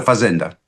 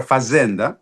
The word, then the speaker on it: fazenda: La esclava proviene esa palabra fazenda que se pronuncia a la portuguesa y quiere decir la DCH.